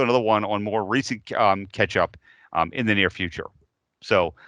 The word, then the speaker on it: k3sup: Yeah, Ketchup is how that's pronounced.